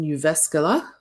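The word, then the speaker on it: Jyväskylä: I was in Uvascala. That's how you pronounce that.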